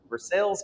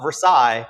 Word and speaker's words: Versailles: the wonderful opportunity to come on down to Versailles, Kentucky, and it's not Versailles. They will absolutely exclude you and not have a conversation. So make sure if you're heading down to Versailles, Kentucky, you pronounce it properly.